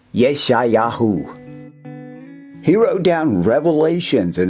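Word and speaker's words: ישעיהו: Isaiah's name in Hebrew is Yeshayahu.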